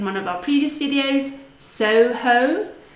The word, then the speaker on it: Soho: Soho, so two gliding vowels.